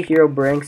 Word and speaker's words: Herobrine: really reminds me of hero Brynn or herobrine or however you want to call it or say it I say hero brinks it's the proper way to say it um so yeah yeah